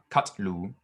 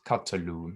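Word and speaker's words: קטלו: And that's just letting you know that there's a slight pause, so it's not katlu, but it's katalu, and it's letting you know that it's an open vowel syllable.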